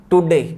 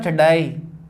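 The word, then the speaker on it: today: Next देखिए, एक दे रखा अपना टुडे। जनरली इसको अपन टुडे बोलते हैं, लेकिन टुडे नहीं होता, इसका सही उच्चारण होता है टडाई।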